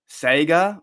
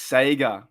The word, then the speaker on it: Sega: How do you guys say Sega? Sega? Oh, dude, that's terrible. It's Sega.